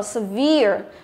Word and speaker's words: severe: Ok, như vậy câu thứ tư A chúng ta đọc là severe. Chúng ta thấy là nhấn vào âm thứ mấy? Âm thứ hai đúng không?